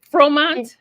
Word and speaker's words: Fromant: Pronounced your last name correctly. Is it Fromont?